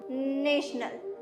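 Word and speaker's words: national: नेशनल, नेशनल नहीं, ये wrong pronunciation है। इसकी प्रोनाउंसिएशन होती है नेशनल।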